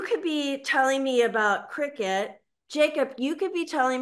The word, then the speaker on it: Cricut: So I kept hearing about this, or I kept seeing this logo for this brand name, Cricut, C-R-I-C-U-T. So that's how I pronounce it, Cricut.